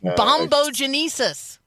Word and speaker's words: bombogenesis: So, Yes, that's because there's going to be a, let's all say it together, 5 syllables, bombogenesis.